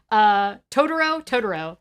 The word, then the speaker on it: Totoro: Totoro, that's how you say it.